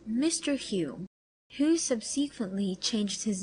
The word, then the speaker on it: Home: mr r barrett browning appeared he says mr hume who subsequently changed his name to home hum is pronounced human scotland was detected in a vulgar